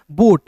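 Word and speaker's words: boat: बोट।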